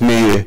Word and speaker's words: My: And for those who doesn't know, MySQL comes from my daughter Mai, actually pronounced Mi, and Maria is my youngest daughter, so it was appreciated.